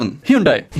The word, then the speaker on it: Hyundai: बहुत से लोग Hyundai बोलते हैं, पर कोरिया में उसे Hyundai बोला जाता है।